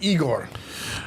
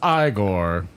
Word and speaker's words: Igor: Frederick Frankenstein I see H you must be eigor no it's pronounced igore but they told me it was eigor well they were wrong then weren't they h